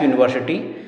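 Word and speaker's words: university: तो यूनिवर्सिटी शब्द भले ही यहां अंग्रेजी के वोवेल यू से शुरू हो रहा है। लेकिन इसका उच्चारण यू से ऐसे होता है। यूनिवर्सिटी एक्चुअल में you knee were C टी ऐसा प्रोनाउंस है। तो ये यू है और यू क्या है? वोवेल नहीं है। कंसोनेंट है ये व्यंजन है।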